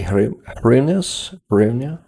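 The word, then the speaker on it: hryvnia: yes like this uh so not that easy to pronounce um the exact Ukrainian version AR but you can say harus yeah you see I'm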